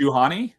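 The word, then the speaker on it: Juhani: as well well and also uh I think Johan Johan that's how you say her name Johan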